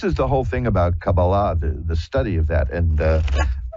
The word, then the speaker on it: Kabbalah: This is the whole thing about Kabbalah, the study of that, and. I pronounce it that way purposefully, because the more dilettante version is Kabbalah. But the Kabbalah, which is the more religious version, the whole goal there